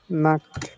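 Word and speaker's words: Nacht: লিখেছিলাম জি এন দি আমরা কি লিখেছিলাম নাখট বানান করেন N আগে N A C A T নাক্ট নাক্ট মানে হচ্ছে নাইট নাইট হ্যাঁ ভেরি গুড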